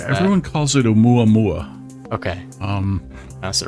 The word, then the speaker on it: Oumuamua: I don't know how you pronounce that. Everyone calls it Oumuamua.